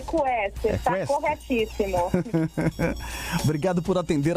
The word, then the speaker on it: Quester: A pronúncia é essa mesmo? É Quester? É Quester, está corretíssimo.